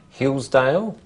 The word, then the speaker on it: Hillsdale: And Hillsdale? 2 syllables. Hillsdale. What about Kensington?